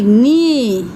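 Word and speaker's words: knee: আর্ম, KN double E নি। এখানে আমরা লক্ষ্য করব কে এর উচ্চারণ হয় না, তাই না?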